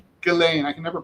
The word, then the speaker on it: Ghislaine: Galain. Galain. I can never pronounce Gain Lady Galain Maxwell.